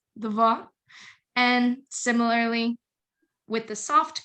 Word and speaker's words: два: So as you can see in, a very common word, dva, this D sound is pronounced hard. It's not zva, right? It's dva.